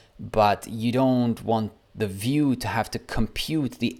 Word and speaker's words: Vue: like in four words view pronounced view like view and like a view right is a progressive